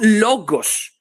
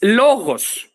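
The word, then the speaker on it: λόγος: There is no logos. It's logos. So at least go and pronounce the word the same way as the Greeks before saying that magic word like a spell.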